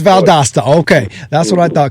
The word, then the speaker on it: Valdosta: So I'm looking here that you were born in, how do you say, Valdosta or Valdosta? Valdosta. It is Valdosta.